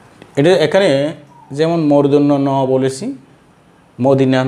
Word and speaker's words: মূর্ধন্য ন: তো শিক্ষার্থীরা উচ্চারণ করে মদিন্যা ন। তো মদিন্যা ন না যেন না বলি আমরা শিশুকাল থেকে যদি এইভাবে নিজেকে তৈরি করতে পারি, তাহলে বড় হয়ে আর ভুল হবে না। এটা মদিন্যা ন নয়, এটা হলো কি মূর্ধন্য ন।